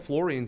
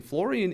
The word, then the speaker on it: fluorine: probably point out fluorine fluorine is spelt a little bit weird some of these elements are spelt a bit weird usually words with uh like this sound o orene is usually o u but fluorine is actually u